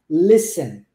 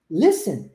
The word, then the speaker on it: listen: o mesmo esquema Listen você vai do S pro e direto o t nunca vai ser pronunciado nessa palavra tá Listen Listen I got News tá